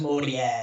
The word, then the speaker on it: Mori: What I gather from a lot of the pronunciation issues that people have, or like my middle name spelled out, it looks like Mori, Mm. but it's pronounced Morie, and my sister's name looks like Fummy, but it's pronounced Humie.